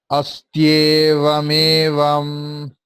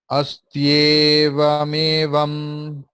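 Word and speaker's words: अस्त्येवमेवम्: Astyevamevam, astyevamevam. It's a typical type of pronunciation. Astyevamevam. If we split it, it's very interesting. Because of Sandhi, it sounds very odd.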